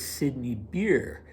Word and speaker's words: Sidney Beer: Okay, so who was Sidney Beer? That would be the English pronunciation of the name, and he was, in